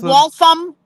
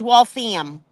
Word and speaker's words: Waltham: It's not Waltham, it's Waltham. Like the ham. Waltham. Park the car, Waltham. Waltham.